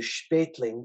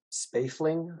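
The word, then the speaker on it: Spaethling: author's name is Robert I would say spatling but let's spell it in English s-p-a-e-t-h-l-i-n-g's spaffling I guess is how uh it really should be pronounced but in English spaffling see that doesn't sound right all right Mozart arrives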